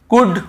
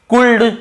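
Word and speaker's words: could: डी के पहले यदि एल है तो हमें उसे नहीं पढ़ना है। कुल्ड वुड शुड नहीं पढ़ना है। केवल कु ड व ड शु ड कुड वुड शुड। यहां पे एल का रोल ही नहीं है।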